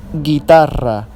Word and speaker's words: guitarra: Guerra okay Guerra not Guerra Guerra the U is silent and here we have guitarra which means guitar if we don't put the